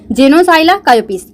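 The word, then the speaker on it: Xenopsylla cheopis: यहाँ पे P silent है जेनोसाइला कायोपिस।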